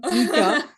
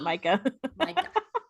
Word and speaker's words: Micah: Mika. No, he'd pronounce it Micah. That's God, how it's spelled. That's it, literally his name. Like the mineral.